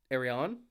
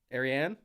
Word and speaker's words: Arianne: Arion. Arianne. Arion Arion. That's an interesting pronunciation.